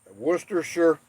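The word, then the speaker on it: Worcestershire: an S like shite finally someone who pronounces worcesters sure correctly worcesters sure okay that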